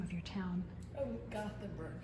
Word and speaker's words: Gothenburg: we are in Gothenburg I would say Gutenberg Nebraska but it's spelled Gothenburg so I don't know